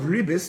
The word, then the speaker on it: ribbis: Again, the Hebrew word for interest is a ribis, R-I-B-B-I-S, or in the Sephardic pronunciation, ribit, R-I-B-B-I-T.